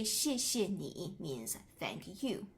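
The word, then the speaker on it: 谢谢: So uh both of the characters here are the same and the second one you really pronounce a little bit lighter than the first one. You don't have to say xiexie, you can say xie.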